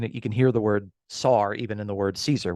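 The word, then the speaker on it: שַׂר: so the the Hebrew noun is the word SAR that's how You' pronounce it okay we actually have a modern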